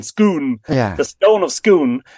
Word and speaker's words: Scone: was first installed at scone or as it's pronounced in Scotland schoon yeah the stone of